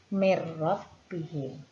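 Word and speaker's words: مِن رَّبِّهِمْ: Di sini terdapat huruf nun sukun bertemu dengan huruf ro, maka huruf nun sukun dimasukkan ke dalam huruf ro. Cara membacanya mir rabbihim.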